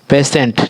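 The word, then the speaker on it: patient: ठीक है, तो PATIEN देखिए पेशेंट जो पेशेंट होता है उसे पेशेंट हम लोग उच्चारण करते हैं, और मरीज को हम लोग पेशेंट करते हैं।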